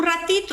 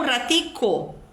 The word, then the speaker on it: ratico: comum então por exemplo um colombiano dificilmente vai dizer um ratito espera um ratito ele diz espera um ratico um ratico ele usa a terminação